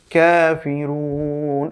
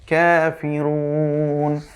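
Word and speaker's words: كافرون: কাফিরুন, এখানে কিন্তু আবার ছোট কাফ এসেছে, এই যে সিম্পল কাফ যেটা সেটা এসেছে, কাফিরুন।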